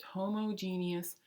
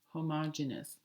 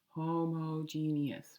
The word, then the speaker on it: homogeneous: that word is pronounced homogeneous not homogeneous homogeneous when you see it written you'll see there is that e in the middle there that people keep dropping all right so hold